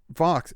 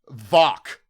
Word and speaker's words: Vock: Now, my gut instinct is telling me that Vox, is it? Maybe I'm saying it wrong. It's not, is it? Vock. V-O-C-K. Vock.